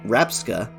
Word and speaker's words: Rabsca: a game changer competitively the name rapsca is the word Scarab with the two syllables switched similarly the Japanese name